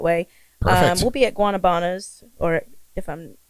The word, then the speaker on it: Guanabanas: Well, Guanabanas is the, I'll say Caucasian way to say it.